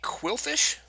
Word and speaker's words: Qwilfish: Pikachu you have a totodile Bulbasaur have a qwilfish that's how that's pronounced and that's a reverse verse qwilfish now